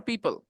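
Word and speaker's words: people: बाय द way Moni you said प्यूप और पीपल पपल पीपल okay O is silent पीपल पीपल पीपल पीपल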